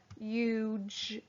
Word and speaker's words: huge: i r number five huge huge h u g e and the g e is making the j sound make sure your h